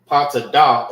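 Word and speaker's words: פטדה: Patadah is how you say topaz in Hebrew.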